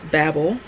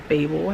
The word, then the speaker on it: Babel: And it's Babel by R.F. Kuang, or Babel, however you want to pronounce it.